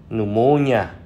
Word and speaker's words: pneumonia: Kế đến thì là những từ bê phở câm thì có ba từ: pneumonia là viêm phổi, psychology là tâm lý học, pseudomembranes là giả mạc.